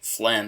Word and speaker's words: phlegm: pronunciation alone that, say, phlegm is spelled P-H-L-E-G-M, but that doesn't mean it's a bad spelling. You could probably guess that the G is silent, because in English, whenever